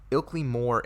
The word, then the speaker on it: Ilkley Moor: way I get this correctly I believe it's pronounced Ilkley more alien the Oakleigh more alien a policeman named